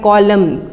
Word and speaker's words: column: तो कॉलम में जब आप देखें कि COLUMNS है तो एन साइलेंट आएगा। साइलेंट का मतलब लिखा जाएगा लेकिन उसे बोला नहीं जाएगा।